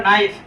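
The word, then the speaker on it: knife: एक वर्ड है हमारा नाइफ के एन आई ए इसका के साइलेंट है पढ़ते क्या है इसका नाइफ तो नाइफ के स्पेलिंग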